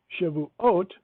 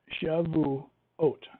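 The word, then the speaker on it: שבועות: as this in Deuteronomy now in shavoo aute the that is the correct way to say weeks shabu oat it adds the oat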